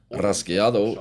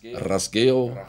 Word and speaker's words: rasgueado: In the Andalusian dialect, or in Flamenco jargon, rasgueado is pronounced rasgueo, rajeo, or rajeao.